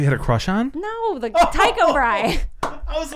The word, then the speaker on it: Brahe: You know why I remember Tycho Brahe? Why? His last name is spelled like Brace, like it's a weird spelling. It's a Danish spelling. It doesn't, but my teacher pronounced it that way.